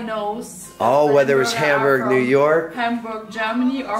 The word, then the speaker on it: Hamburg: So it's just, you got to remember, it's not Hamburg. It's Hamburg.